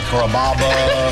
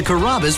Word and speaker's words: Carrabba: Growing up, people always had a hard time pronouncing my name. People chop it up pretty good. You know, Carrabba, Carababa, Caramba. It's a really easy name to pronounce. It's Carrabba. Come to Carrabba's for dinner.